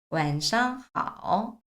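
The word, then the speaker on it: 晚上好: 있었어요 그래서 중국 사람들을 만났어요 그럼 좋은 저녁입니다 완상 하 완상 하 완상 하 여러분들이 중국어 배울 때 걱정하지 않으셔도 되는게 반복적으로 나와요 발음들이 그래서 아침을 상이라고 읽을 수 있었잖아요 그러면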